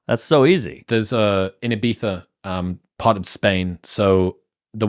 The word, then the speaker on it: Ibiza: You can't say Ibiza? It's Ibiza. Is it a th? It is for us.